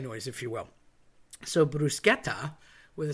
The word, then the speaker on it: bruschetta: I get why you say it, but it's technically bruschetta. So, let's have a little talk about that. The c h is pronounced k, like a k if you will.